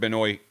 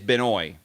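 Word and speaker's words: Benoît: to his ATP page I invite you to listen to the way he pronounces his name I'm hearing it as binoy I don't hear a Benoit I don't hear a Benoit at least not in an exaggerated way but yeah Benoit a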